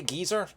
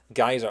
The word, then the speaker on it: geyser: Yeah, some people say geyser over here. I say geezer, I'm pretty sure. But yeah. Oh, it's Bufula. Oh no, hang on, that's an ice move in America pronounce it geyser.